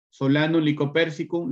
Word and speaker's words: Solanum lycopersicum: Es lo mismo, es el idioma científico. Solanum lycopersicum lo dirán los que viven en España, los que viven en Estados Unidos, en Inglaterra, en Japón, en Corea.